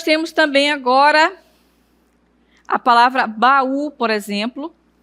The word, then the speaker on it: baú: E aí nós temos também agora a palavra baú, por exemplo, e saúde. Ó, baú, acento tônico no U e saúde, o acento tônico no U também. Então, a sílaba mais forte é no U. Saúde, baú, no U também.